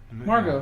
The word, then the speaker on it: Margot: Margot. Her name is Margot. Margot? That's how you pronounce it. G-O-T at the end.